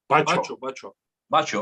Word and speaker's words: Bacho: Anyway, so about the Bako, how do you say his name? Bako or Bacho? Bacho, okay.